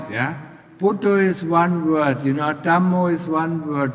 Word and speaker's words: Dhammo: Buddha is one word, Dhammo is one word, Sangho is one word. And it always has 2 syllables. Buddha, Dhammo, Sangho.